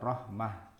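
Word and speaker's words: رحمة: Tapi itu sebenarnya hak kata mereka. Jadi kita bacanya rahmah gitu sebenarnya.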